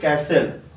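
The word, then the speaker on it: castle: ইয়ার rule হব উচিত যদি টি পূর্ব এস হচ্ছে তাহা সাইলেন্ট রুহে যেমন দেখি ক্যাসেল রাজপ্রসাদ ও কি নাই ক্যাসেল করলে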